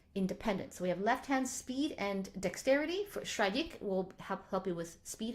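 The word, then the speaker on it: Schradieck: I think it's pronounced Shradik, first page.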